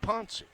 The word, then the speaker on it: Ponce: Maria Sanchez, I've been calling her Maria Sanchez, but it's Maria Sanchez-Ponce, spelled like Ponce de Leon, but Ponce.